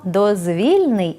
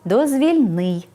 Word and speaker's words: дозвільний: а отже власней відзначення вимовляємо дозвільний з наголосом на другий склад коли прикметник походить від іменника дозвілля і означає Вільний від якоїсь праці стосовний до вільного від праці часу притаманний такій порі наприклад дозвільний час дозвільні ігри дозвільні розмови коли ж прикметник походить від іменника дозвіл і характеризує те що дозволяє здійснювати щось вимовляти треба дозвільний з наголосом на третій склад наприклад дозвільний порядок дозвільні